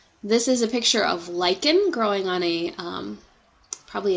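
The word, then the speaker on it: lichen: sorts of different places lyen and let me spell that out for you so you get an idea of what that actually looks like l i c h n so that's this kind of green stuff here lyen is actually a mutualistic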